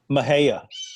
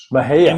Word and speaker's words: Mexia: Mahia. Mahia. MEXIA.